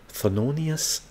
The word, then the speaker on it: Thelonious: This is the way you pronounce his name or spell his name. Thelonious.